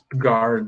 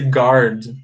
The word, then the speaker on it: guard: Guard, tá bom? É o número do pente. Então, you have to pay attention to this word. Pay attention, we say guard. Guard. A letra U não é pronunciada, tá?